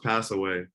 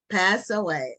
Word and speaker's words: Passewe: It's pronounced Passewe. Passewe. Okay. Is that what you said, Ron? I was close. I said Passewe, so it's Passewe. Okay. The accent is on the first syllable.